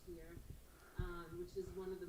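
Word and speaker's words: Scheer: rum to a company in the netherlands called skier it's some people say sheer but it's actually pronounced here which is one of the most prominent and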